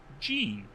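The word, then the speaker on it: Jean: A bit of a random nugget to mention, but my name is pronounced Gene, like the pants.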